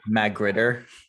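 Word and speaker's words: magrittr: It's Magritter.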